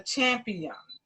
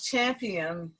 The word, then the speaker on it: Champiam: So I gotta know the Champiam. Now he spells Champiam Champiam. So how did you come up with that name? Well, first I like to pronounce it as Champ I Am, because it's Champ I